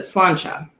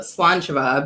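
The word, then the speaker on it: Sláinte: it looks like it's spelled slant and you pronounce it slancha however i've actually been more converted into the slant java because that is the scottish way of saying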